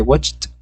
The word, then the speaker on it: watched: Ojo a la pronunciación. Si quieren, se le pueden poner una T. I watched. Como una T al final. Y si no, I watched. Que suene como una especie de entre CT.